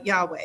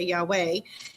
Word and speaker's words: Yahweh: Here it explicitly says explicitly that the eternal name of the creator is Yhovah pronounced by uh Yahweh. You could say Yahweh.